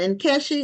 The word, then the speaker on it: Enkeshi: know who's who so Jasmine and in kesi is that how it's pronounced yes okay I didn't want